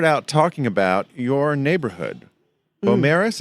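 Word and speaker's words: Beaumaris: about your neighborhood bomaris is that how you say it by morris but a lot of people ask us how to pronounce it actually so we've addressed that in the talk we're doing tomorrow it's bo morris and uh it's a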